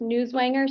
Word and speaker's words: Newswanger: do you pronounce that it's pronounced newswanger sir news Wier thank you